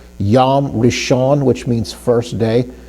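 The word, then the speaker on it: יום: Well, when you say that, so Yom is spelled yod, vav with a holam and final mem. So we got yo, o sound, as in holam. So we have holam, we know that's going to make an o sound, okay?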